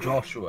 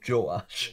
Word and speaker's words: Joash: I'm just going to correct you, because it isn't Joshua, it's Joash.